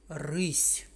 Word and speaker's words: рись: плов Так це рис слова рис та рись ніби схожі але є різниця і в написанні і в вимові і мають різні значення чому ж так відбувається познайомтесь з літерою яка не має звуку це м'який знак коли м'який знак стоїть після приголосного то робить цей приголосний м'яким послухайте рись м'який знак